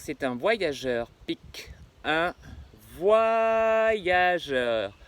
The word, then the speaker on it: voyageur: Or, normalement, ici on prononce voyageur. Et oui, non seulement le Y fait le son YE, mais le O avec le Y, ça fait WA. Donc ça fait pas voyageur, ça fait voyageur.